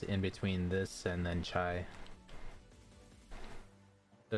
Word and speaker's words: CIA: say his name, like his actual name is spelled CIA. But basically he used to go by like his Discord name would be like Chai, as in the chai tea, is on how you pronounce it.